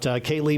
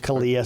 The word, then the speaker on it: Kalia: How about Kaylee Minahan of the Peyton Jourdan Rockets? It's actually pronounced Kalia, sorry. Kalia.